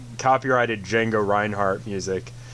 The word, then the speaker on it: Django: just listen to some Django that might be what I want to do it's spelled with a D right at the beginning if you want to